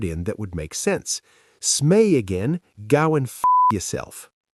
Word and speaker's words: Smee: Smee, spelled s m e e, pronounced smee.